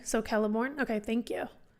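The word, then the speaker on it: Celeborn: he's written the trees as a character oh celorn is it celorn or is it kellor I'm not sure that's a great um I hard K so kelborn okay thank you C is sarian and quena is pronounced K okay so a hard K was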